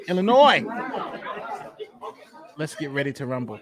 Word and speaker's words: Illinois: do tonight remember Nate the s in Illinois the S is silent in Illinois yes the S is silent Illinois let's get ready to